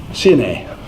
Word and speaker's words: Sinai: look at me quizzically proper pronunciation CN a how do I know this we have a cat we inherited from our neighbors two doors down they were Arabic and his name is Sydney okay that's how your pronounce them out not sign a a with proper nouns